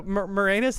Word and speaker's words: Moranis: So Moranis is actually like how he pronounces it and tells people to pronounce it, but it's definitely written more anus.